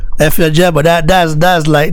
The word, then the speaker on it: Efe Ajagba: Efe Ajagba.